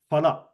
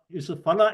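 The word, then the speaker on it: फल: Okay, a lot of people, even people who speak Sanskrita, they say phala. Phala is not the pronunciation. The pronunciation is phala. It is subtle, but people who are into pronunciation can catch it very easily.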